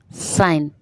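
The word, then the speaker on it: sign: है व साइलेंट है साइन साइन में जी साइलेंट है कॉम कॉम जब बोलते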